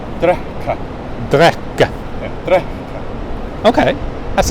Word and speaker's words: drekka: Or to drink, D-R-E-K-K-A. Drekka. Drekka. Yeah. Drekka. Okay. That's an unusual sort of pronunciation thing.